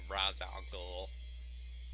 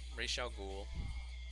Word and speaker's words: Ra's al Ghul: What's interesting about this episode is it sets up a build-up to Ra's al Ghul. Just joking, that's the Batman Begins pronunciation, which is just embarrassing. But Ra's al Ghul and his daughter and Vertigo.